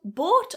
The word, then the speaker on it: bought: Now "bought" on the other hand, tends to get confused a little bit, mostly because people are influenced by the spelling. So try not to look at that "ou" in "bought" and think "oh it's ou". It's not, it's a long /ɔː/ vowel.